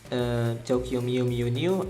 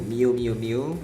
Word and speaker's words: Tokyo Mew Mew New: I dropped this series, Tokyo Mew Mew New. I pronounced it wrongly in my video. I called it Mew Mew Mew. I did not know that there was another N.